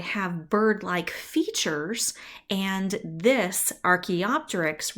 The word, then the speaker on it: archaeopteryx: two species are called transitional forms okay so archaeopteryx there you go that is the correct pronunciation of this right here archaeopteryx fossil is